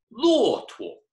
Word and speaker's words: 骆驼: A camel is 骆驼. 骆驼, remember that 驼? With when there's no tone, it just kind of floats.